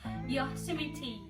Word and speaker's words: Yosemite: Okay, the correct pronunciation of the name is Yosemite. The first O must be pronounced in an open fashion and not with a closed U sound like the word yo-yo.